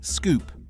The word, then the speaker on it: Scoupe: The name was literally a combination of sporty and coupe, pronounced Scoupe.